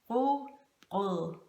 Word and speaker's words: rugbrød: The way to pronounce rye bread in Danish is rugbrød, rugbrød, rugbrød.